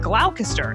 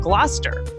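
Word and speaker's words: Gloucester: Like originally I said glalcaster instead of gluster.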